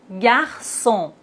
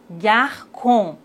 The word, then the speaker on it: garçon: La cédille nous indique qu'il faut toujours prononcer cette lettre C. Regardez bien. K. Et maintenant, avec cédille, ça. K. Ça. Français. Garçon.